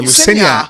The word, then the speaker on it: Lucenyah: É Lucenai, não? Não, é Luceniá. Tá vendo? Luceniá. Na verdade, a pronúncia é Luceniá mesmo.